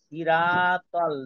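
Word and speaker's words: صراط: ওইখানে হ্যাঁ, এখানে যেহেতু সদ আছে, তো সদ থাকলে কি হবে? সই হবে। ইহদিনা সৈরাতল, সই, সৈরাতল। সিরা না সির?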